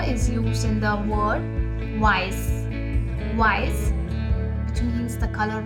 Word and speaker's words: weiß: That is double S is equal to etc, and it is pronounced as S. S here is used in the word weiß.